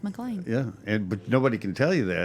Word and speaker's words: McLean: And we're going, I mean, look, it's not McLean, it's McLean.